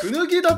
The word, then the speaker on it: 椚田: はい八王子ねえ、くぬぎだと読みます今のね。